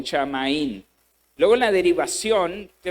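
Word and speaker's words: שָׁמַיִם: Va a descubrir que la palabra hebrea que se está usando ahí es la palabra shamaín y luego es la pronunciación shamaín.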